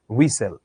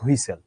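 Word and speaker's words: whistle: আমরা বাংলায় জিনিসটাকে যদিও লিখি হুইসেল, কিন্তু আমি যদি ইংরেজিতে, এই শব্দটার উচ্চারণ হচ্ছে হুইসেল, নট হুইসেল।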